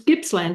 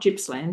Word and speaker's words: Gippsland: What's the weather like in in It's Gippsland and not Gippsland, isn't it? Gipps, yeah. With a with a hard G.